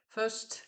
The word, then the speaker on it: First: Ça fait partie de la collection Le Petit Livre aux éditions First, First, si je prononce à l'anglaise, euh, qui coûte, alors maintenant, il coûte 3,50 €.